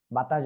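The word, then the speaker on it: ب: প্রথমে আমরা শিখেছি আলিফ, বাতাস বের হবে। তারপরে শিখেছি কি? বা, দুই ঠোঁটের ভিজা অংশ থেকে উচ্চারণ হবে।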